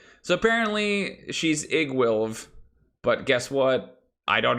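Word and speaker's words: Iggwilv: The pronunciation for Igwilv is Igwilv.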